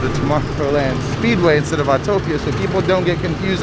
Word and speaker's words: Autopia: of my biggest complaints it's spelled autopia not autotopia i swear people do